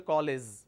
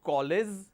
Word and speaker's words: college: The letter is G, but the pronunciation is j, college. But some people replace the j sound with z sound. They say I am going to the college. It's not college, it's college. It's a j sound, not a z sound.